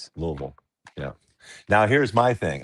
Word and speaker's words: Louisville: Louisville. Yeah. Now, here's my thing. I'm not from here. I go, guys, it was uh founded and discovered by King Louie, not King LOL.